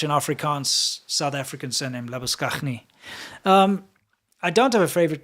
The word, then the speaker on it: Labuschagne: Yeah, Labuschagne. That's an Afrikaans name. It's originally based off a French surname, but it's very, very much an Afrikaans South African surname, Labuschagne.